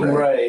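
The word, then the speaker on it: Rey: King Ray. R E Y E. It's the Spanish pronunciation for crown.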